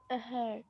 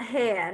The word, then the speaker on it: her: When you have E and R, Zahra, how do you pronounce them? Her. So not hair, huh?